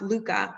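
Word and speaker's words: lykke: definitive versions of happiness so one is pronounced luca which is this elusive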